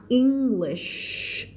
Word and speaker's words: English: ก็คือเขาจะส่งกำลังพลมาเยอะมากเลยนะคะ across the English นี่เป็นคำที่ทุกคนควรจะอ่านออกเอาใหม่นะคำนี้อ่านว่า English เสียงลมไม่พูด English แล้วก็ไม่ใช่ English ไม่ใช่เสียงตัดนะคะเสียงลมเพราะฉะนั้นมันจะลากยาว English เวลาเธอบอกให้ใครเงียบๆเธอทำเสียงนั้นนะนะแล้วเอามาใส่ข้างหลัง English แล้วก็ตัดให้มันไม่เวอร์จนเกินไป English ได้ไหมได้นะ I speak English ไม่เอา I speak English